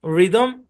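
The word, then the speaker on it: rhythm: শব্দের শুরুতে আর এইচ যদি একসাথে থাকে তাহলে এইচটা সাইলেন্ট। যেমন এই শব্দের উচ্চারণ রাইম, রিদম, রেটরিক, বুঝছেন?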